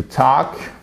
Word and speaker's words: talk: Donc, par exemple, vous prenez to talk, vous rajoutez, donc vous avez votre infinitif, vous enlevez le to, ça vous fait la base verbale, to talk. Évidemment, on ne prononce pas le L, to talk, talk.